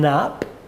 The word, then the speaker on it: Knapp: Health and Social care Martin Knapp the key is silent um by chance another